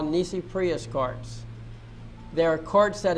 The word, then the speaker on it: nisi prius: That's spelled N-I-S-I. And the next word is prius. P-R-I-U-S. Nisi prius.